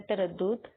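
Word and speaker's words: تَرَدُّد: پہلا لفظ ہے تردد. تے پر زبر آئے گا. رے پہ بھی زبر. دال پر شد اور پیش اور دال پر جزم.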